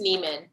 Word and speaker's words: Nyman: i'll take this opportunity my name is neiman thanks it's a swedish pronunciation i've been pronouncing it wrong